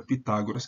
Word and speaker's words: Pitágoras: anteriormente então por isso como essa sílaba é longa acento cai aqui mas como a gente em português segue acentuação Latina a gente em latim essa a penúltima sílaba é o que interessa como esse o é breve a sílaba vem para cá então em latim vira Pitágoras que é como a gente faz em português e vejam em português